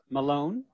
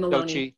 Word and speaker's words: Maloney: And I want to introduce to you Annie Sochi Malone. Did I pronounce that right? Sochi? Is it? Yeah, Sochi's great. And then Maloney. Sochi Maloney. I'm sorry, I forgot the E.